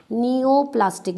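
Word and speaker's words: neoplastic: Oncogenic transformation और नियोप्लास्टिक transformation, heading डाल लें ओंकोजेनिक ट्रांसफॉर्मेशन, और another term we यूज नियो, P silent है बेटा, नियोप्लास्टिक, जैसे निमोनिया में पी साइलेंट था, नियोप्लास्टिक ट्रांसफॉर्मेशन।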